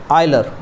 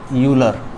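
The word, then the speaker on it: Euler: जो Swedish mathematician थे आइलर और इंग्लिश में उन्हें बोलते हैं हम यूलर और मे बी आइलर जैसा भी आप प्रोनाउंसिएशन करना चाहे तो उन्होंने सबसे पहले आयोटा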